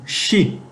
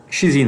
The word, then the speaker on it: xi: grega essa letra grega é um xi xi né seria pronunciação mas é parece um